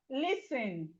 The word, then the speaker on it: listen: We have listen, listen, listen. The T in listen is silent.